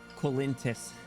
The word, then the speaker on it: Colintus: Colintus. The L is silent, but ever present.